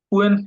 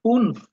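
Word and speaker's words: fünf: ফুয়েন, ফুয়েন্স না, এটা হলো উচ্চারণ হলো ফুনফ।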